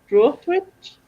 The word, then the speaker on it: Droitwich: Droitwich?